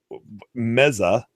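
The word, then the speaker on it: Meze: So we got a follow up from Titan Cronus about Meza. He says is actually the pronunciation.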